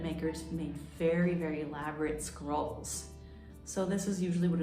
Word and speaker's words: scroll: in Violin terminology the scroll that sounds a little bit like the word squirrel but instead it's scroll with an O and that's spelled s-c-r-o-l-l